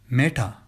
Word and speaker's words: Meta: Well, apparently Facebook had a developer in Hyderabad by the name Meta, pronounced Meta, which comes from a Sanskrit word meaning great or worthy of respect.